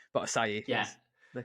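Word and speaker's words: açaí: you said, and then I just kept saying acai, but acai Yeah.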